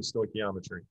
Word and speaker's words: stoichiometry: to be called defining stoichiometry. And you just heard me say it twice. I don't want to hear stoichiometry or stoichiometry or stoichiometry. Stoichiometry. The CH sounds like a K.